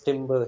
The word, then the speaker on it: timbre: Timbre. Timbre, I think, is the way we actually pronounce that, even though it's spelled Yeah, timber. sorry. Yeah. We pronounce timber here, so yeah, Yeah.